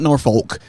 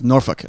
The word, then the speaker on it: Norfolk: Give me 2, and they're like, okay, it is not Norfolk. It is Norfolk. I was like, all right.